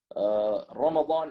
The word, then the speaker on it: Ramadan: Ramadan is the famous pronunciation, Wallahu A'lam.